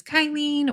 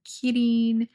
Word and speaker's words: Qilin: So this one is Kylin or Kirin or Qilin. Oh, I think it's pronounced Qilin.